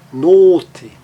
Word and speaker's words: Note: Agora, um som fechado e longo, olhem a palavra note. Note, uma consoante só seguindo o, faz com que ele fique o som longo, está ali na transcrição